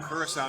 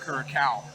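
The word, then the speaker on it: Curaçao: good so at least we're calling it blue curacao now instead of curacao yeah our daughter had to tell us that we were saying it wrong she looked it up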